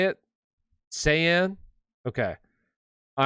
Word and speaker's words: Saiyan: over get your questions answered all right super saiyan that's how you say it saiyan okay all right um and if you want